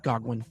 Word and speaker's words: Goguen: When you created this roadmap, you have Shelley, Voltaire, Goguen, which should be pronounced "Gog-wen". Just so everyone knows. That's what Google says, Okay?